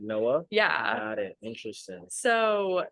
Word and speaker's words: Noa: And then I went back and listened and she was like, it's spelled like NOA. And I was like, oh my gosh, like that's But crazy. you pronounce it Noah?